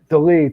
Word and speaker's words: Dolidze: How do you pronounce his name? Dolidze.